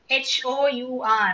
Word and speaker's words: hour: எதனால அப்படின்னா, ஹவர் அப்படிங்கும்போது இந்த வேர்டுல ஹெச் வந்து சைலண்ட். ஹெச் வந்து சைலண்டா எடுத்துக்கணும். அப்ப சைலண்ட் அப்படின்னா அங்க அப்படி ஒரு லெட்டரே இல்லாத மாதிரி நம்ம சொல்லணும் ப்ரொனவுன்ஸ் பண்ணும்போது. அப்ப ஹெச் சைலண்ட்னா அதுக்கு அடுத்த லெட்டர் என்னது? ஓ. HOUR. அதுல ஹெச் சைலண்ட்னா நெக்ஸ்ட் லெட்டர் வந்து ஓ. அப்ப ஓ வவலா கான்சனண்டா? ஓ வந்து வவல்.